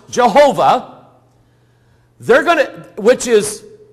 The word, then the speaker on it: Jehovah: in Hebrew yo hey ba hey which is pronounced Jehovah they're going to which is translated as Lord